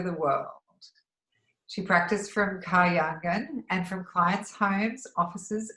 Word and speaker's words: KAHYANGAN: You're Chief Relaxation Officer of KAHYANGAN. Is that how you say it? Yes, KAHYANGAN.